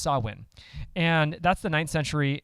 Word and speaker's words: Samhain: Celtic Festival it's called saw win and it's spelled Samhain so you've probably if you've done any research it's it's pronounced saw win and that's the ninth